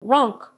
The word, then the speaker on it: Roncq: ronk ronk french pronunciation rock dutch ronk is a commune in the